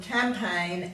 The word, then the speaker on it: campaign: Our words today are nash, null, align, benign, consign, dane, reign, foreign, campaign and assignment. So in these words the G is silent and it usually comes before an N.